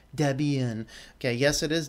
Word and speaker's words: Debian: people yell at me for the way I pronounce Debian okay yes it is Deb and Ian based upon you know God that created it